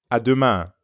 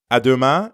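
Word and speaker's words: à demain: but then instead of biento you'd add Duma aduma aduma Duma means tomorrow means see you tomorrow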